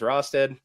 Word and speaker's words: Rosted: We're the Roasted Snow Horror Show. Reason we came up with that title. My last name is Rosted. Everybody has always mispronounced it as Roasted.